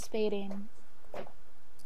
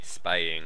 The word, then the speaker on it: spaying: Yeah, we call it neutering and spading. Spaying. Spaying. There's no D. Oh. Not spading.